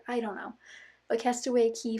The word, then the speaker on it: Castaway Cay: the Castaway Cay or castaway key depends you can pronounce our you want it spelled K it's pronounced key for the most part I don't know but castaway key 5 K so it